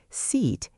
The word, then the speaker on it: seat: They stretch sit and hope it becomes seat. Length helps, but quality matters more. Seat is tense. Sit is lax. Different muscle setting.